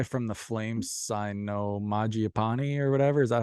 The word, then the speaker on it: Mangiapane: Um, I seen that one guy from the Flames sign no Mangiapane or whatever.